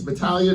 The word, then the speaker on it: Battaglia: know me, call me Battaglia. If you know Italian, it's Battaglia. The G is silent.